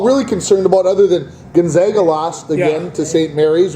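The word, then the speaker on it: Gonzaga: there St Mary's and gona I watch because these two rip each other up it's always been a hard G they don't really you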